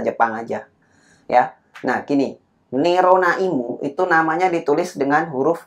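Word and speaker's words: ネロナ・イム: Nerona. Jadi ini bacanya ne, ro, dan na. Kemudian lagi satu imu gitu ya. Ini i, ini mu. Ya. Jadi bacanya Nerona Imu.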